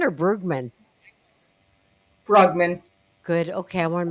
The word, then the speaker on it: Brugman: Do you say Buggman or Bergman? Buggman. Good. Okay. Okay, I want to make sure I'm pronouncing that correctly.